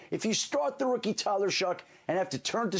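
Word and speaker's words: Shough: Like I've heard Tyler shuck a million times. But if I'm just if we're not talking and all of a sudden I'm gonna I'm gonna Tyler Sha. I just pronounce the way I I see it.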